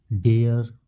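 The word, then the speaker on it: dare: जब स्पेलिंग इसका इसका प्रोनाउंसिएशन जब कीजिएगा तो उसमें डेयर जो होता है, आर जो होता है वह हिडन हो जाता है।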